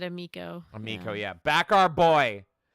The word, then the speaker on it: Amico: D-Day and Bliss said Amico. Amico, yeah. Back our boy. A Tommy Tallarico funded Super Sega can't go wrong. It's because it fucking rhymes with his name. Tommy Tallarico, Amico.